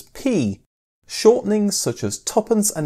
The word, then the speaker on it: p: was clearer and quicker to pronounce the new coins as P.